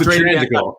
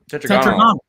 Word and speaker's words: Tetragonal: Oh, no, that was Tetragonical. No, Tetragonal. It's tetragonal.